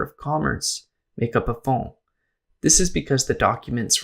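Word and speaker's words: fonds: The word has French origin and is spelled f o n ds. A phone is similar to a collection but not made with intention.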